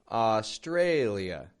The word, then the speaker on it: Australia: Australia. And by the way, notice the contrast in the syllable stress there. How the tray goes strong.